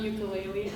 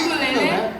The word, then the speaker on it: ukulele: It's not ukulele, actually. I didn't say he said ukulele. I said ukulele. Good on you. Is that really how it's pronounced? Yeah, it's ukulele.